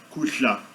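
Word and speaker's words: kudla: Alchá, alchá, kushla. É o verbo comer em Zulu, kusha, kushla, kusha. Comer, K-U-D-L-A, kusha, kusha. Um som bem raro e gostoso de pronunciar, acho bem interessante essa articulação.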